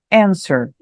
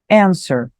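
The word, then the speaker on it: answer: bem diferente no inglês Então vem comigo na pronúncia anser anser ele tem uma ideia de responder responder ou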